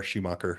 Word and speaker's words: Schumacher: a c h r shoeer like the race car driver um put that in